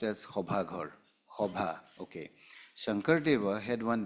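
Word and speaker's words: সভাঘৰ: In Assamese, it is pronounced as Hobhaghar.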